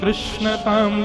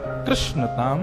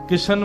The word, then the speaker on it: कृष्ण: बंधुओं, मेरा ऐसा एनालाइज है कि कृष्ण शब्द का उच्चारण अधिकतर लोग अशुद्ध करते हैं। लोग या तो किशन बोलते हैं या कृष्ण बोलते हैं, मतलब जो भी बोलते हैं।